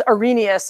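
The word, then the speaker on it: Arrhenius: researcher his name is Ari Gnaeus that's how you pronounce that it doesn't look like it I know but that's how you pronounce that it's kinda like a silent H this is the guy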